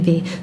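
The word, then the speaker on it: ʻiʻiwi: And is the name of the bird Iwi or Eevee. The W is often pronounced kind of as a V. Iwi? Eevee.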